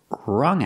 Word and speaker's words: rung: out in the past rung out we see the U making the short sound like cup and up uhuh relaxed sound uh